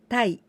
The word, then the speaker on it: 待: This kanji is the verb to wait, 待ちます to wait, but also we can pronounce in onyomi, tai.